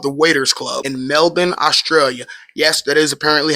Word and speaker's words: Melbourne: The Waiters Club in Melbourne, Australia. Yes, that is apparently how you say it. If you ask any Australian, it's Melbourne, not Melbourne, even though that's how it's spelled.